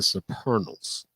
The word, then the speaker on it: Supernals: The name of the group was the Supernals. Supernals. The Supernals. Now, where did that come from? It rhymes with eternal, but it's supernal, means heavenly.